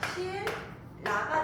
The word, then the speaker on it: 신라: 자, 신라 같은 경우 발음 얘도 똑같아. 발음을 먼저 하는 거야. 발음을 했더니 어떻게 돼? 실라가 되지.